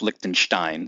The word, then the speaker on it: Lichtenstein: his name is Roy Lichtenstein I've also heard it pronounced Lichtenstein so you can go whatever way you want and Lichtenstein was this